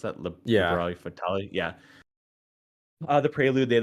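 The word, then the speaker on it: Liberi Fatali: Is that how you pronounce that? Yeah. Liberali Fatali.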